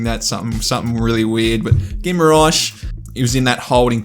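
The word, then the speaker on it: Guimarães: I think the last Newcastle video I did, I was pronouncing that something really weird, but Guimaraes, he was in that holding position with Joel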